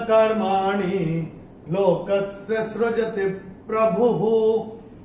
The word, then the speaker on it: प्रभुः: अभी ये भ पे जो विसर्ग आ रहा है चरण की समाप्ति पे आ रहा है, तो इसका उच्चारण केवल और केवल ह ही होगा। तो कैसे होगा, लोकस्य सृजति प्रभुः, ये ऐसे करके होगा।